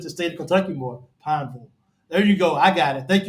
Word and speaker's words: Pineville: This is not Louisville. This is Pineville.